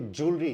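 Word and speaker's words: jewellery: इसको हम लोग ज्वेलरी बोलते हैं भारत में, लेकिन ये ज्वेलरी नहीं, ये ज्वेलरी है।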